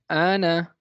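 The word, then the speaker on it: أنا: Ana, because Alif is a silent letter here.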